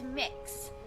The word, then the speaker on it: Mix: no one cares okay it's mix so kind of like cookie mix or mixing what that sort of thing that's how it's pronounced what that is my name